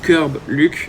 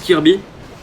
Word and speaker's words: Kirb Luc: les futurs abonnés que je m'appelle bien Kirb Luc et non Kirb. C'est pas Kirb qu'il faut prononcer mais Kirb Luc. Voilà parce que il y a des gens qui disent Kirby tout simplement.